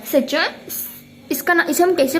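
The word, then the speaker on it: Siachen: The largest one in India being the सचन, इसे हम कैसे प्रोनाउंस करते हैं? सचन ग्लेशियर, ठीक है।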